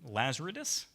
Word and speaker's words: Lazaridis: Yeah, I can't pronounce it, but. Yeah. Mike. Laser. Lazaridis.